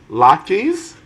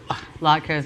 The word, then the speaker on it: latke: latkes or that donuts? Latkes. I'm a fan of a fried potato in any form, really. Really? Latke. This or that? Latka.